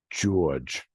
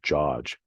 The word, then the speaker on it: George: So I knew people who pronounced it George. Hey George. Yet I knew other people who pronounced it George.